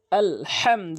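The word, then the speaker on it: الحمد: আল পেশ দু আলহামদু অধিকাংশ লোক 95 পারসেন্ট লোক আলহামদু বলে আলহামদু ছোট হা বড় হার জায়গাতে ছোট হানে উচ্চারণ করে যার ফলে অর্থ চেঞ্জ হয়ে যায় নামাজ নামাজ ভেঙ্গে যায় এবং অশুদ্ধ তেলাওয়াত হয় এখানে আলহামদু বলবেন আলহামদু কখনোই মনের ভুলেও আলহামদু বলবে না আপনার নামাজ নষ্ট হয়ে যাবে।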